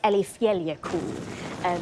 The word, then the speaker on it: Eyjafjallajökull: I'm so sorry to our Icelandic viewers if I get it wrong, but I think it's Eyjafjallajökull.